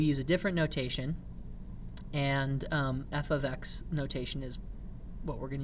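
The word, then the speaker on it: f(x): y for outputs okay it's pronounced f of x and it doesn't mean f times x it looks kind of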